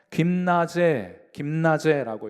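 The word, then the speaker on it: γύμναζε: 연단한다 하는 표현은 우리 헬라어로 김나제라고 읽어요.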